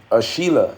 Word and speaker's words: Sheila: Sheila, okay, Sheila. That's how I pronounce it.